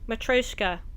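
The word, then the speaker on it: matryoshka: that can be collected matreshka now I know how to say it matroska if everything goes as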